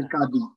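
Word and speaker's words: قاضي: আচ্ছা, আমরা বলি কাজী সাহেব যারা বিয়ে পড়ায়, মূলত কাজী হলো বিচারক, কিছু দুষ্ট লোক হলো এখন মানে বিয়ে আরবি পড়ায় উচ্চারণটা হচ্ছে কাদি, কদি, কদি, হ্যাঁ, বিয়ের ক্ষেত্রে যে কাজী হয় এটা, কদি।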